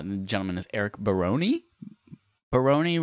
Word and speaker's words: Barone: gentleman is eric barone perrone rhymes with baloney or maybe it's baron with an e on the end i would say barone barone that makes a lot more sense adam you have a